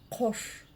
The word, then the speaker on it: Қош: Но как же прочитать букву К с хвостиком снизу? Очень просто. Нужно просто отхоркнуться через букву К обыкновенную. Пробуем. Улыбаемся и пробуем. Да. Кош. Кош. Кош. Ну а буква О, собственно, читается так же, как и пишется.